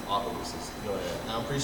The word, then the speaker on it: Opelousas: Anyways, it's Opelousas.